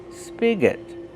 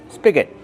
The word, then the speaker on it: spigot: Use a short sound like this is spig. Spigot. And the next syllable is not stressed. So, it's awah g spigot.